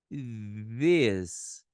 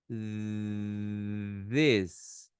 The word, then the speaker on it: this: Você tem que empurrar um arzinho para fora aqui, para você poder pronunciar esse TH aqui, ó, tá? Então ficaria this, this. Se a gente fosse dizer, se fosse parecer com o som, pareceria mais ou menos com a letra D, soprando um ar que parecia